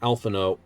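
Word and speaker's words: Alphinaud: tulola it still seems it looks like it's a double Gap everything is like alphano but the D is Silent not alanod mids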